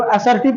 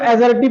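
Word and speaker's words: assertive: देखिए एसर्टिव जब हम आप लोग को पढ़ा रहे थे, इसको आप लोग क्या पढ़ते हैं, इसको असर्टिव पढ़ते होंगे, इसको एसर्टिव पढ़ा जाता है, ठीक है।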